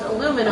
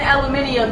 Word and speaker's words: aluminum: this would be pronounced aluminum aluminum because saying aluminium is just adding a vowel that's not actually in the word no it's not there's